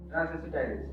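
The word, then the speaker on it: transacetylase: Spelling पे मत जाइएगा, एसिटाइलेज, ट्रांसएसिटाइलेज। ठीक है, ट्रांसएसिटाइलेज हिंदी में लिखो, कोई दिक्कत नहीं।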